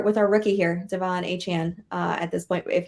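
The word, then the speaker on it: Achane: Chan I don't know he said a Chan even though with the E makes a chain which yeah rolls off the tongue better but whatever it's not my name yeah because it rhymes with the a part yeah all right but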